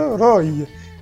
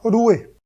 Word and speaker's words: roi: Ainsi, si l'on prend l'exemple du mot roi, il se prononçait avant le XIIe siècle roi, et après le XIIe siècle, il se prononcera roué.